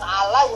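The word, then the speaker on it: على: Jadi ketika dipenggal perkata, diurai perkata, tulisan alai ada yaknya kelihatan titik. Kalau perkata, yaknya nggak pakai titik. Bacanya ala, seperti matobi, alif maksuro, alif dipendekkan, ala.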